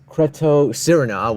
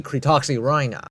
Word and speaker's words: Cretoxyrhina: It kind of reminds me how I used to pronounce this one. Cretocirina, which is just, I'm embarrassed about that. It's supposed to be called the Cretoxyrhina.